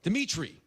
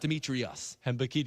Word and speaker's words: Dimitri: I'm sorry, I'm Greek. I always resort to the extra syllable. I'm sorry. Dimitri, not Demetrius.